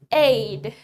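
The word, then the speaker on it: aide: Aid. Aid. Aid itu adalah ajudan. Aid. Tulisannya A-I-D-E, tapi dibacanya aid.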